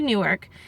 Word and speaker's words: Newark: something on my glasses, it's pronounced Newark, not Newark, and I was like, oh, okay.